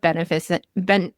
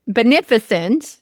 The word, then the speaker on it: Beneficent: I know you're CEO of Beneic Beneficent.